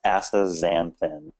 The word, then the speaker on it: astaxanthin: If you look at it, though, it throws you off because everyone stares at that X and wonders how to say it. So it's astaxanthin.